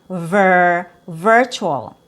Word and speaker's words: virtual: And then we have ver virtual. Virtual has the letter i in the spelling like visit.